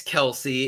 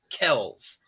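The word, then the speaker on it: Kelce: their entire nfl careers it is travis kells not travis kelsey so there you go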